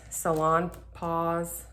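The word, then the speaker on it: Salonpas: Okay, so a few weeks ago I had requested this Salon Pause. I think it's Pause. I think you pronounce the S.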